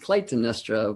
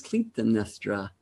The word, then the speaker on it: Clytemnestra: and Clytemnestra, who until this day I had pronounced Clytemnestra, but I had a consult earlier with a teacher who helped me know that the true pronunciation is Clytemnestra.